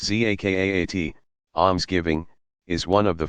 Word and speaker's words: zakat: Zakat, pronounced zakaat, almsgiving, is one of the 5 pillars.